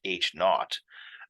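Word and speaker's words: H₀: The null hypothesis, represented as H with this sub-zero, typically pronounced H naught.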